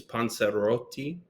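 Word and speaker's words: panzerotti: So the real the pronunciation's panseroti, but can't expect everybody to have like I can't roll the r that way.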